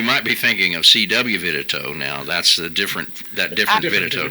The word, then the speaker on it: Vidito: I'm the only one here that spells it Vidito, and I always say I spell it like they pronounce it, because they pronounce it Vidito, but they spell it Vitito, right?